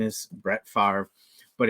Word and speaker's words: Favre: I'm doing this because I like to joke around and say Brett favra knowing full well that is Brett Favre of course I'm from Green Bay um I know his name is Brett Favre but it's really fun